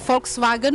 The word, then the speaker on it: Volkswagen: Kan bukannya huruf W itu apa kalau? Iya V, tapi dibacanya V gitu. Kayak Volkswagen, VW.